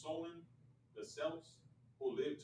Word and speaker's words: Samhain: back to the ancient celtic festival of champaign pronounced solon the selves who lived 2 000 years ago